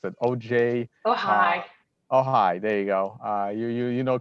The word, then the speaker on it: Ojai: I'm not even sure how they pronounced it. Oh, Uh, hi. Ojai.